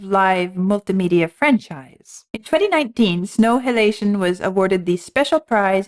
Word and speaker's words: Snow Halation: And the piece is Snow Halation. Snow Halation? Like inhalation, exhalation, snow halation.